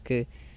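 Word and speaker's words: καί: Kai, que se pronuncia que.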